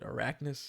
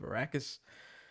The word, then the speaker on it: Arrakis: theater review i think i called it arachnus instead of arrakis you know honest mistake